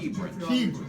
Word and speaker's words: Kebran: And I'm with my man, Kebran Alexander. Did I pronounce it right? This is Dr. Kebran.